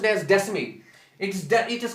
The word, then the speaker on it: Descemet's: It's pronounced as Descemet.